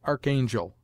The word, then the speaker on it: archangel: as chemist scheme collar ACH is commonly sounded Arc before a vowel as Archangel and with the English